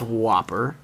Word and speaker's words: WOPR: what there is no eats wopr it's pronounced whopper okay and it is